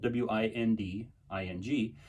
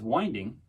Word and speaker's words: winding: It's spelled W-I-N-D-I-N-G. You might think it's winding, but it's winding, because back in the